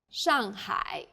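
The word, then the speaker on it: 上海: a word in pinion the pronunciation for the famous city Shanghai is Shanghai the first syllable here is made of an initial and the final and a fourth falling tone the second syllable is made of an initial and a final I and a third falling then Rising tone hi Shanghai well done let's wrap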